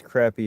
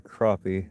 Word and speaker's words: crappie: The common name crappie, also spelled crappie or crappie, can be pronounced two ways depending upon location and region. Okay. I still think everybody says crappy is weird.